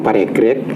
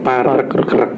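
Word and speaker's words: Paregreg: bahwa Setelah Perang parekrek yang biasa dibaca orang paregrek ya itu sebenarnya itu membacanya itu parkrek Rek itu artinya di dalam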